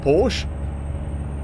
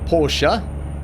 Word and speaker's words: Porsche: I wanted a four-door Porsche or Porsche as I think is pronounced in these states we say Porsche in South Africa and but if I